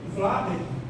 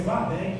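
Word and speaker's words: Vladek: E a eh eu também nesse capítulo eh Vlad, na verdade a pronúncia é Vladec, que é um judeu Vadec.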